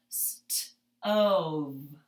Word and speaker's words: stove: And we don't hear the E. It is silent. So sounding that out, we have stove.